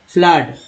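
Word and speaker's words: flood: फ्लड, double O को आ उच्चारण किया गया, फ्लड were some of the strategies, I एस को इज बोलते हैं, मैंने बताया था इज।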